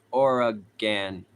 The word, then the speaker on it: Oregon: It's pronounced Oregon.